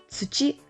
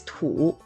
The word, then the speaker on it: 土: Tsuchi is another pronunciation, which can be used in the word tsuchiya, which is mud hut. The Chinese pronunciation of this word is tu.